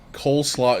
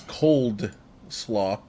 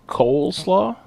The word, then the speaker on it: coleslaw: Apparently people think coleslaw is cold slaw. I don't know. What is it? What is it really? Coleslaw? Coleslaw. Cole. Cole? Oh. He's like, I thought it was cold.